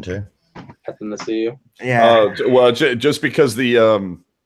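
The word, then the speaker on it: Athanasiou: I mean, Kudos on the pronunciation too. Anathasiu.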